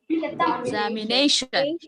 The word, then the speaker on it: examination: Yeah, here the stressed syllable is name. Examination. As it is a longer word, it has secondary stress also. Name has primary stress. Exam has secondary stress. Look at here. Examination. Exam also gets a stress, but it